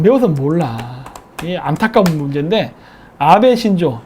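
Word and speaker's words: 阿部: 이거를 배라고 읽어요, 배. 배라고 읽는데, 일본에서 그 성씨 중에 배가 들어간 사람들은 한국계입니다.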